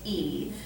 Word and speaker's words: y: for and in Spanish which is just the letter Y pronounced e so for example for